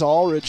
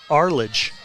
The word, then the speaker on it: Arledge: 1-0 pitch that's now why is Ulrich in the Box here for the riverhawks with two outs I I get I I think it's Arledge yeah you're right and I say it wrong a lot too so we